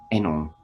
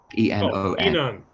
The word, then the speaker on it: Enon: And the girl from The Laps, Toko Yasuda, Japanese woman, she later joined, can't pronounce their name, Enon, E-N-O-N.